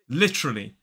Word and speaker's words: literally: this word is literally literally three syllables the stress falls on the first so we have L